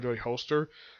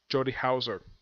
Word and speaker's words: Houser: I used to call her Jody Holster. But I finally pronounced the name right. It's Jody Houser.